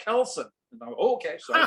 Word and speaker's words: keelson: And Carl turned to me and said, keelson, it's called kelson.